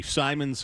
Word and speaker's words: Simons: Is it Simmons or Simons? Simons. Simons. And did I say Simmons? My bad. Okay. So, but but it might be pronounced Simmons. No, it's Simons.